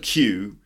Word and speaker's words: queue: makes perfect number 27 the word q.q which is strange word in terms of its pronunciation because it's basically the letter Q followed by four unnecessary letters isn't it Q because we say the letter Q is Q and the word Q is pronounced the same way so why do we have Yui Yui at the end I don't know but anyway it's pronounced Q for example sorry are